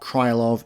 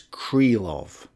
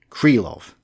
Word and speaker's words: Krylov: have been told that i'm mispronouncing krylov it's not krylov it's cree love so from now on it will be creel of unless i forget now